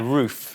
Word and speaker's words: RUF: Yeah, so we're gonna talk about, gonna say it right, the RUF (pronounced as roof) so I've all I've just yeah I think I've just always been somebody that's calling it RUF (pronounced as rough) but we have this big